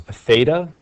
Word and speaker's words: theta: and it represents an angle measure so it's pronounced theta and remember it is a variable the first